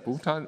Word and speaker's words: Buchtal: On my side, of course, our Sopo technicians and our guest from Agrop, Agrop Buchtal, yeah, Buchtal. I have to pronounce this Buchtal also, okay?